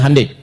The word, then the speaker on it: Hyundai: Ya Hyundai saya tahu bahasanya, dibacanya Hyundai.